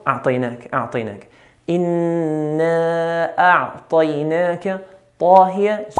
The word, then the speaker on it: أعطيناك: Whenever we have a letter with a fatha, any letter, and after that follows a ya with a sukun, we have to be very careful and pronounce the letter correctly with its fatha. Make the fatha clear and not in between fatha and kasra, which is very common. It's very common to hear a'tainaka.